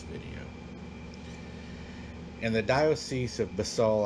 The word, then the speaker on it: Basel: In the Diocese of Basel, I believe is how it's pronounced, B-A-S-E-L, at the town